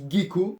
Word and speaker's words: gecko: donc un petit gecko moi j'ai toujours dit guy co mais apparemment segeco alors est ce que vous vous dites gecko comme lui avec la prononciation du gie ou est ce que vous dites gecko avec la prononciation du g comme moi alors oui c'est inutile